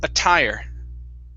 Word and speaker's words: attire: good okay now um some of you um when you see a double t you automatically think that we are going to pronounce that as a d sound or a flap flap d t okay but the time we do not is when it is receiving the stress right here it is